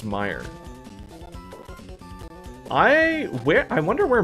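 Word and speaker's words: Meijer: Oh, Meyer. It's pronounced Meyer.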